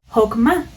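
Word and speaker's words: חָכְמָה: interesante y es que esta palabra sabiduría en hebreo se pronuncia hokman que significa habilidad conocimiento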